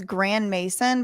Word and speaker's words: Grandmaison: His last name is Grand Mason, but it's spelled Maison.